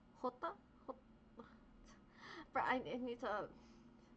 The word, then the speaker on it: jota: So like you can't just say Soro Jota Zephyr because although Jota is how you say J in Spanish, it just doesn't roll off the tongue.